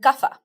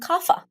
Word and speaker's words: Kapha: They are what we call in Ayurveda Vata, Pitta, and Kapha. Here in the West, we pronounce those Vata, Pitta, and Kapha.